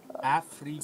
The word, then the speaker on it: Afrikaans: Afrikaans. Say, the A is like up, the U from up. Afrikaans.